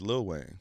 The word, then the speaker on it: Lil Wayne: It's Lil Wayne. You say little.